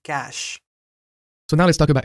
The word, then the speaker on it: cache: Stephane pronounces it cache instead of cache.